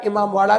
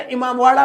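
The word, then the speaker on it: इमामबाड़ा: अच्छा, इमामवाड़ा बोलो तो इसका जो है प्रोनाउंसिएशन थोड़ी थोड़ी दहीबाड़ा जैसा लगता है, प्रोनाउंसिएशन में, उच्चारण में देखने में नहीं, दहीबाड़ा जैसा लगता है।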